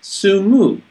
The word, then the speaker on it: Sumu: It's actually, they pronounce it Sumu. S-U-M-U.